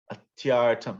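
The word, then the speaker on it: अत्यर्थम्: Atyartam. You can say it together, or the whole word too. Atyartam. Tyartam Atyartam. atyartam Atyartam. Atyartam. atyartam Atyartam. atyartam Atyartam. Atyartam. It's like 3 syllables.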